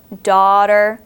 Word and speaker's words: daughter: share with you are daughter and cot hear how they sound like they have an A W in there daughter it really doesn't d